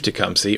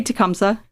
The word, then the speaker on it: Tecumseh: he said about Chief tumy or tumsa depending on how you pronounce it okay so it's supposed to be tumsa but anybody who lives here pronounces it wrong and that's right is